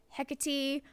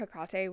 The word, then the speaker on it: Hekate: Um, I've heard people say Hecate. Some people spell it differently with a C instead of a K. Um, for personal reasons, um, that I will one day discuss on actual public platforms. Um, I call her Hekate with the K, with